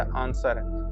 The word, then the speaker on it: answer: फ 22 number question वच इज a silent letter in the word आंसर आंसर में क्या डब्लू आपका साइलेंट होता है 23 नंबर क्वेश्चन ए